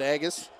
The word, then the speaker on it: Agus: As crouching in, James Colquhoun, I believe against Hunter Agus. And we were corrected on that pronunciation. Apologize for it being wrong earlier in the season, but Agus with it now as he comes up and across center.